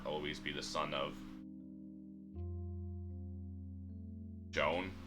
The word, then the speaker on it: Joan: Though someday she'd depart in part I'd never be alone and my heart always be the son of Joan rhymes with alone.